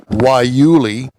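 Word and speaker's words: guayule: Prix, feature a rubber made from guyule, pronounced waiuli, a woody shrub found in the deserts of the Southwest.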